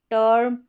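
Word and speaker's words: term: इस इ का उच्चारण इ नहीं होगा। ए नहीं होगा। अ होगा।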